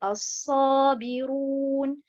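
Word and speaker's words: الصابرون: Et encore par rapport aux règles du tajwid, la première prononciation qui est as-sabiroun, la lettre ra, elle est beaucoup plus emphatique, en forme emphatique.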